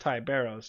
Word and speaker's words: Ty Barros: His name is technically Barros Ty, but yeah, it's pronounced Ty Barros just because of the culture, right?